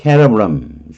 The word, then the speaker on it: cerebrum: 라틴어에서 cerebrum 무조건 K로 발음합니다. 라틴어는 이거는 이미 영어화됐기 때문에 S로 발음하게 된 거고요.